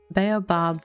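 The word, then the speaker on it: baobab: It's baobob. Like three syllables, right?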